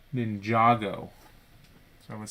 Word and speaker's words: Ninjago: of ninja ninja ginjago you pronounce the a as in palm not as in ham ninjago ninjago so i was saying